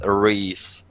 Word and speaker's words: Rhys: should probably learn that my name is pronounced Rhys not an essay I have